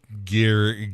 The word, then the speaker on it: Guarini: And it's pronounced Guarini.